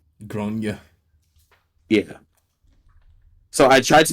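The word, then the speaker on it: Gráinne: Generally, it says like grainy, like Grainne, but the A has an accent, and she says it's generally pronounced as Gronya. Gronya.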